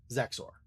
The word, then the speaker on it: Zexor: So Zor, think um maybe like the word sex except with a Z and then the word or at the end. Zexor.